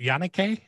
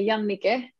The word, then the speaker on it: Jannike: your name is it yanake am i saying it correctly well in my language we say young nike so yeah you're kind